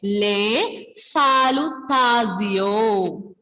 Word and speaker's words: les salutations: When we have letters T-I-O-N together in French, pronunciation will be C-O.